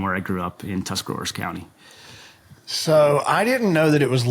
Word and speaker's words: Tuscarawas: hour away from where I grew up in Tuscarawas County. So I didn't know that it was legal to say the whole county. I just always heard Tusk County. So you pronounced it correctly. Say that again, Tuscarawas County.